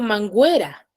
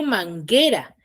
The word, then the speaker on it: manguera: Porque la U es una vocal, pero que no suena dentro de la sílaba. Yo no digo manguera, yo digo manguera. Y la única vocal que suena es la E.